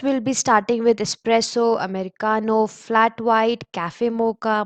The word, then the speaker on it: Americano: It is pronounced as Americano. So it's Americano.